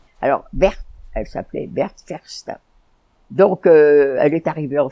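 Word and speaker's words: Faurstin: Elle s'appelait Ferstein. Ah, ça s'écrit F-A-U-R-S-T-I-N, mais c'était avec... Vous savez, c'est la prononciation allemande, ça, oui.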